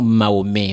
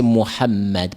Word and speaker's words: Mohammed: C'est pas Mahomet, c'est Mohammed. Prononcez les noms en islam même.